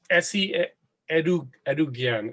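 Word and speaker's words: Esi Edugyan: Well, yeah, it's by Essie Edougian.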